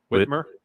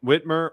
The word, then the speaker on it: Whitmer: and say I I what Whitmore it's Whitmer excuse me two syllables um uh I I